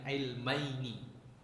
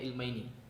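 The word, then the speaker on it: علمين: Ini nunnya aslinya ada nun di sini. Di sini itu ada nun. Jadi bacanya ilmaini. Tapi untuk memudahkan baca maka nunnya itu dibuang. Jadi bacanya min ilmai.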